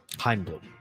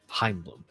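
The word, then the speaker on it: Chaim Bloom: Heim bloom. Cool. He's Jewish. Heimblum.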